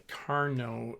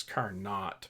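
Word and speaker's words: Carnot: exceed What's called the Carno efficiency and spelled like it was car not but it's car no let's put that together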